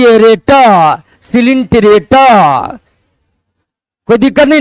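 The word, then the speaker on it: Coelenterata: या दूसरा फाइलम है सी ओ ई को पढ़ते सी लेन एल एन लेन पी रेटा हिंदी में इंग्लिश में पढ़िए बड़ी आसानी से सी लेन टी रेटा सिलेंटरेटा पढ़ लिया है टी ओ ई को सी पढ़ना है और उसके बाद एल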